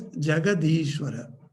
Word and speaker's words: Jagadishvara: But when you make Jagat and Ishvara together, it is pronounced as Jagadishvara.